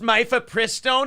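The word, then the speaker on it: mifepristone: about it you know if you Memphis Pro for stone and that it's actually pronounced mifa pristine it's like shut up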